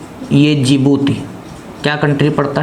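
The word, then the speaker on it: Djibouti: इसको हम लिप्त हैं DJ बनेगा जिबूती कि किसमें डी साइलेंट रहने वाला है जी बूटी आप हिंदी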